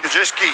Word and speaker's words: Gajewski: Gets it out to Gajewski. Is that how you say it? Gajewski. Gajewski, that's it. Gajewski, a bit like Shafosky.